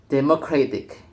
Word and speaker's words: democratic: a new rhythmic pattern, often placing stress on the syllable immediately before the suffix. As a result, democratic is pronounced democratic, with stress shifted away from the original position.